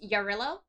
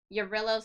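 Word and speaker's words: Jarilo: Um they've had planets like uh Ya I think it's pronounced Yarillo Yurillo 7.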